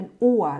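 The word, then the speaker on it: Uhr: แล้ว ก็ อั คือ นาฬิกา ตัว ฮา เรา ไม่ ออก เสียง นะ คะ เรา จะ ออก เสียง เป็น อั้ว เลย แล้ว ก็ East แปล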